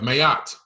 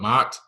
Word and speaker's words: Maat: You have Mayat. Okay, that's the true pronunciation, Mayat. Some call it Maat, but it's really Mayat.